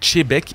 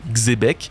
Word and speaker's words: Xebec: D'ailleurs, c'est en partie pourquoi je prononce Tchbeek et non Xebec. Entre l'orthographe de ce navire et la prononciation dans l'anime, le X n'existe pas.